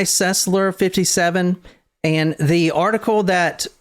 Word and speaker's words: Sesler: Sesler. But So- I see that's not the case. Rhonda Y. Sesler, 57.